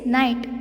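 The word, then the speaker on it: knight: So, the first one is night. First one is night. K-N-I-G-H-T. K-N-I-G-H-T. Even though this word starts with a K letter, the pronunciation is night. K is silent here.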